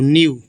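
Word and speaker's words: knew: merchant merchant मतलब व्यापारी के एन ई डब्लू न्यू देखिए के यहां पर साइलेंट है एन सेना ई से ना बड़ी की और डब्लू से वा न्यू न्यू मतलब जानते थे द डंकी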